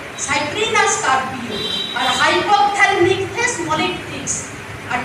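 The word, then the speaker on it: Cyprinus: তখন আমি বলেছিলাম কেন, বড় শ্বাস নাভিনিফার, তাহলে বলুন তো রজত রুই, গ্রাস কাঠ আর সাইপ্রিনাস, আমরা যে উচ্চারণ করি সাইপ্রাস ভুল উচ্চারণ, সাইপ্রিনাস কার্পিও আর হাইপোথ্যালমিকথেস মলিকটিক্স আর টিনোফারিনগডান ইডেলা।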